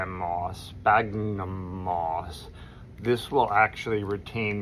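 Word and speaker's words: sphagnum: Spagnum moss.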